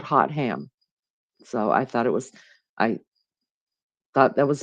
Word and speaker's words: Hotham: Hotham. It's spelled like hot ham. Hot ham.